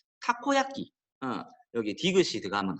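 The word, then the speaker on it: たこ焼き: 그래서 정확한 일본어 발음으로는 다코야끼가 아니라 타코야끼.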